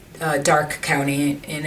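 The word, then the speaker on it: Darke: a town called uh Dark County in it's spelled D a r ke and everyone says Drake but it's dark and the reason Dark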